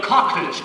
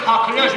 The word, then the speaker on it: coqueluche: Sí, porque dicen que por la tos es a la francesa. Entonces se debe pronunciar Le Coqueluche, Le Coqueluche, Le Coqueluche.